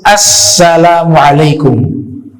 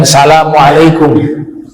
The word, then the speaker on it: Assalamualaikum: harus menggunakan alif lam Jadi dibacanya itu Assalamualaikum jangan Salamualaikum ya itu rukun itu imam